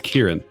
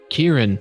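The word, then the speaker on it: Kearen: Uh, my name is uh my name is Kieran. Kieran. Kieran. I spell that K E A R E N. Why? Because that's how elves spell it.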